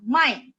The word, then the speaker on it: 卖: Nada 3 itu membeli. 买. Nada 3. 买. Jadi kalau misalnya salah nada, orang bakalan salah paham gitu ya. Jadi nada 4 menjual. 卖. Nada 4. Kalau membeli, 买.